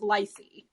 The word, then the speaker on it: LICY: Everyone, they trade under the ticker LICY, which in my mind, you guys pronounce Lycy. I think that's a reasonable way to pronounce it.